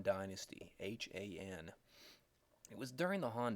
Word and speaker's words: Han: of the Chinese classical age however is the Han Dynasty Haan it was during the Han Dynasty that Confucianism